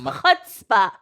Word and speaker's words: chutzpah: it's chutzpah. Well, Idiot. I, in my mind, pronounced misled as misled, which we've Yes.